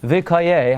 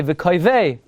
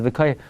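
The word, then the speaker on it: וְקוֹיֵ: You know, you want to know, how do you pronounce in the Haftarah of Lech Lecha? V'koyeh Hashem Yachalifu. So some Balikar will say V'koyvei. That's not what the Mincha Shai says. Mincha Shai says V'koyeh.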